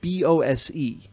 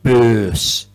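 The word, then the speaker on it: Böse: One of them, a man by the name of Wilfried, see, it's pronounced, it's read B-O-S-E, like Bose or Bosey speakers, but there's an umlaut over the O. Wilfried Böss, Willy Böss.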